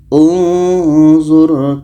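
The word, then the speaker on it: انْظُرْ: Za berbaris di depan, huruf yang ketiga berbaris di depan, maka hamzah wasal berbaris di depan. Maka ini bacanya unzur kaifa nusarriful ayat.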